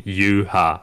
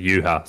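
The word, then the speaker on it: Yhwach: it's actually from, but in the Japanese they're calling him Yuha. So it's like, I think it was translated as Juha back in the day. So I heard when they said they pronounce it Yuha, so just call him Yuha.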